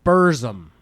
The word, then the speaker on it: Burzum: Pablo Burzum. Am I saying that right? Yes. Spell that.